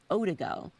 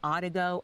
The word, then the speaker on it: Odigo: There was an instant messaging service that was called Odago. maybe I'm saying it wrong, Odigo, O-D-I-G-O.